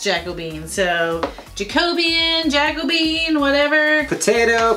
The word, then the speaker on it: Jacobean: of it she's using Jacko beam and so we've had a couple of people tell us that it is pronounced Jacobean so Jacobean Jacobean whatever